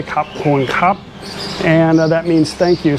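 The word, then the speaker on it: ขอบคุณครับ: Khop Khop Khun Khrap. Easy to say Khop Khun Khrap.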